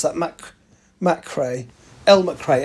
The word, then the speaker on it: McCrae: How do you pronounce that? McCrae. Elle McCrae, MACHRAY.